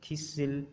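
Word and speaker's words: thistle: इनमें हम जो है वो लफ्ज़ों में हम टी को प्रोनाउंस नहीं करते। मसलन फैशन, लिसन, ऑफन, थिसिल और विसिल, यहाँ पर भी हमने टी को प्रोनाउंस नहीं किया।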